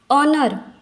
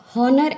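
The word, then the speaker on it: honour: तो साइलेंट होता है ऑनर हम इसका प्रोनंसिएशन हनर ऐसे नहीं करते नर तो यहां पर एच हो गया साइलेंट उसके बाद इको ओ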